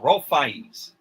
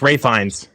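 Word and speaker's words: Ralph Fiennes: Uh, Ralph uh Ralph Fines. Ray Fines. Ray Fines. It's Ray Fines. I always I always have trouble pronouncing his name.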